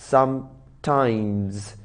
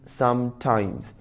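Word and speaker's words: sometimes: एस एट the last बहुत सारे लोग इस वर्ड को गलत प्रोनाउंस करते हैं और गलत बोलते हैं दे से सम टाइम while it इज नॉट सम टाइम इट इज सम टाइम्स जब ये एडवर्ब ऑफ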